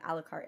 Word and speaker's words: Alucard: or like the first fight between Trevor and Alucard.